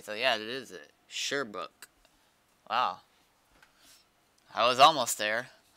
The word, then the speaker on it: Sherbrooke: Sherbrooke. Wow. I was almost there. I was calling it Shearbrook. Like sheer. Shear. So it's Sherbrooke then.